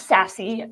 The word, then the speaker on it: SASE: 15 today with you good all right so sassy pronounce sassy spelled s a e so we're going to